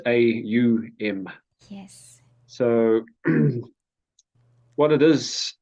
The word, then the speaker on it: Om: Well, yeah, first of all, just to explain what Om actually is. We see it often spelled OM, but Yes, actually the way it's pronounced is AUM.